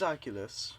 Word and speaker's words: Oculus: The Oculus, or the Aculas, however they pronounce it. It's Oculus, and Critical actually made that exact same point in his video.